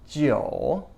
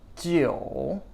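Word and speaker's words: 九: is number 9 and this one is pronounced Gio Gio Gio is number nine it's the dipping tone and last but not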